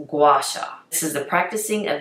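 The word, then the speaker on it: gua sha: g-u-a-s-a and google what this was and it's pronounced guasha this is the practicing of using a tool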